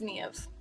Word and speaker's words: Niamh: My name is Niamh. Niamh. I struggle with that in Ireland, getting people to pronounce it correctly.